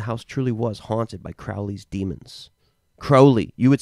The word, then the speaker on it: Crowley: The American way is Crowley. The British way is Crowley. How's it spelled? Crowley. Crowley. We'd say Crowley. Crowley. Right. That's the right way to say it because he was British.